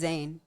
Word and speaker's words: Zayn: Zayn.